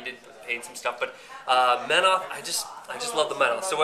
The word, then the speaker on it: Menoth: No, I'm sorry, it's pronounced Menoth.